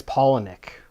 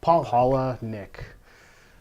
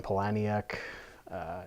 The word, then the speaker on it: Palahniuk: for having me Matt and it and it's Palahniuk Paul holla Nick I don't think we want to make him